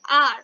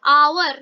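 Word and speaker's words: hour: आवर या हावर नहीं बोल रहे, इसे हम आर बोल रहे हैं, ठीक है।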